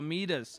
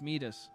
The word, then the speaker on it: Midas: whatever you touch oh meet us is it meet us I think I think it's pronounced Midas I said my oh no